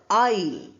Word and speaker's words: isle: In these six words, S is silent. You have the word isle. Isle is between seats. When you have some space, that's called isle. We don't say Isil.